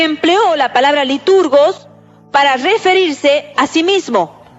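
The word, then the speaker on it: λειτουργός: de ministro, que es la palabra liturgos, que se la pronuncia como liturgo.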